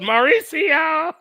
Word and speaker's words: Mauricio: It's pronounced Mauricio. But in Espanol, it's spelled Mauricio. In Espanol.